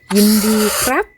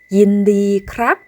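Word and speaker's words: ยินดีครับ: 인디 크랍, 인디 카입니다.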